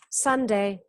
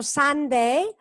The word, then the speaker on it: Sunday: Sunday. No es tanto Sunday, pero es Sunday, con la U corta.